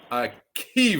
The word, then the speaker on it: AKiVA: a AA that's AK I with a VA a Kea all right now tell me I mean where